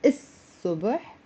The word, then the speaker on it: الصبح: And instead of saying الصبح, don't pronounce the l. Pronounce الصبح.